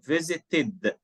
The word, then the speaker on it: visited: or da, end in, like this one, visited, id. Why id? Because here the last letter T, or the last sound T, ta. Here the last letter D is pronounced da. That's why here visited, needed.